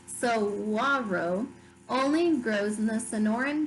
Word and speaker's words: saguaro: The saguaro, pronounced saguaro, only grows in the Sonoran Desert of Southwest North America.